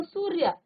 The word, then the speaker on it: सूर्य: जो य है ना इस य के ऊपर र लगा है तो इस र का उच्चारण आप य से पहले करेंगे ठीक है जिस भी वर्ण के ऊपर ये लगा होगा उससे पहले इस आधा र का उच्चारण होगा तो सूर्य तो देखिए हमने र का उच्चारण य से पहले किया अब मर्द लिखा है